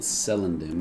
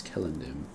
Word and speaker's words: Celondim: I think I was pronouncing it Celondim in my last episode, but I'm actually quite sure it's Celondim.